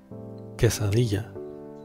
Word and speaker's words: quesadilla: So before starting, let's see how to pronounce the dish name. Quesadilla. Quesadilla.